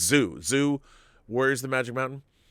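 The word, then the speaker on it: Zu: You know, no one had seen Wu Warriors of the Magic Mountain? Or Zoo, it's Zoo, Warriors of the Magic Mountain.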